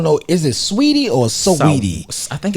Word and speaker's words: Saweetie: Is it Sweetie or Saweetie? I think it's Saweetie. Because it's spelled S-A-Weetie.